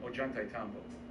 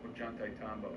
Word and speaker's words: Ollantaytambo: Ollantaytambo. Ollantaytambo. How do you spell it? Ollant. Ollant. AY. TAMBO.